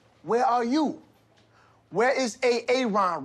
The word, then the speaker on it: Aaron: you say it the first time I said A.A. Ron? Because it's pronounced Aaron?